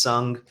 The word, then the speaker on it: Sung: just to introduce myself my name is Sun rhymes with lung like the air you breathe and I am a